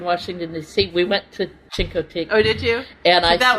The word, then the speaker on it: Chincoteague: Chinquity. Yeah. Is that Oh, how you say it? that's Marguerite Henry. Yeah. That's Marguerite Henry. When Paul and I were... Misty of Chinquity. Of Chincoteague, yeah.